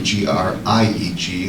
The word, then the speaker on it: Grieg: I read something on Grieg that he's from Norway, and this piece was basically...